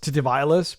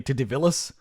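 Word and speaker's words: Titivillus: Also, I'm being told that it might not be pronounced Titivilas, but actually Titivilas, but I guess I'm too late on that one, sorry.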